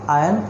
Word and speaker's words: iron: Iron ore, that is a raw material to manufacture the final commodity of iron and steel. That R is silent, iron.